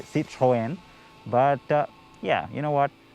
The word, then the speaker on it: Citroën: right now if you're french you would say see trojan but yeah you know what it'll take a little getting used to the pronunciation is not why you tuned in so